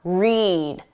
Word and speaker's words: read: When the pronunciation is that long sound, read, eed. That's for the infinitive, to read, or the base verb, read.